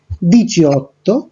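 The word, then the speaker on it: diciotto: আপনারা দেখতে পাচ্ছেন 17-এর ক্ষেত্রে উচ্চারণটা হচ্ছে দিচিয়াসেত্তে, 18-এর ক্ষেত্রে দিচিঅত্তো এবং 19-এর ক্ষেত্রে দিচিয়ান্নোভে, আর 20-র ক্ষেত্রে এই উচ্চারণটা হয়ে যাবে ভেন্তি।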